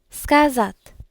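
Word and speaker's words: сказать: So with this I need to remember that the emphasis is going to be on the second a. Scazat.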